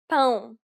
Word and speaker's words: pão: It is similar to the ow sound in English, but with nasality. Saying the word pound repeatedly may sometimes help with pronouncing this sound.